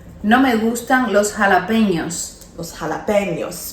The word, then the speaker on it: jalapeños: And then instead of saying no me gustan los jalapenos, No me gustan los jalapeños. los jalapenos, because when the tilde is on the end, you say ñ, jalapenos, okay?